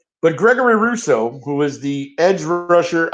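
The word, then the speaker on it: Rousseau: correct spelling uh sean it's r-o-u-s-s-e-a-u okay it's pronounced like we're just i must be maybe it's french you know that russo russo r-o-u-s-s-e-a-u right just when we get you know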